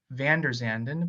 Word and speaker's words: VanderZanden: today we are going to be interviewing vanderzanden but I want to make sure that I pronounce to your last name correct yeah you